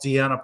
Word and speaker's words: Deonna: And like just the way she pronounces things, she calls Deonna Purrazzo Donna Purrazzo.